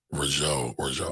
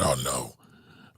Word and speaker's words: Arnault: Bernard Rougeau, I always say his name wrong. Let me pull it up. Bernard Arnault literally mentioned Jay-Z's name by name in their annual meeting.